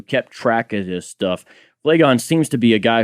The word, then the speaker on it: Phlegon: Phlegon, I think somehow you usually hear it pronounced. Okay, Phlegon, a Greek from Caria,